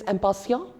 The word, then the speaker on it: impatient: Again, quite familiar, impatient, what many people will read it as. But in French, the pronunciation is a bit different. It is impatient.